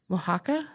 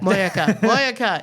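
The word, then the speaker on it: mojakka: Mohaka? I have no idea. Moyaka. It's moyaka. We're trying here, folks.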